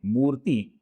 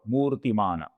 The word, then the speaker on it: मूर्ति: कुछ नाम है इनमें मूर्ति शब्द बार बार आया हुआ हमें दिखता है। इस शब्द में मुंह दीर्घ है और ती ह्रस्व है, तो इधर हमें बहुत